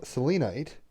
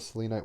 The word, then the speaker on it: selenite: stone we're getting is selenite i actually have a selenite wand right here i would normally say selenite but my fiance who's british says selenite where'd it go oh